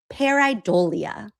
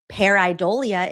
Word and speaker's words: pareidolia: a misinterpretation consistent with the human condition termed pareidolia." I watched a YouTube video about how to pronounce it.